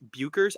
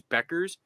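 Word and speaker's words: Bueckers: How you said Paige Buchers? I, to this day, still pronounce it that way, even though I know it's Beckers. It literally says Buchers, but whatever.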